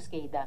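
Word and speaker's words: SCADA: bago yung fall of question doun sa skada skada pala yung pronunciation non So yung logs niyo po ba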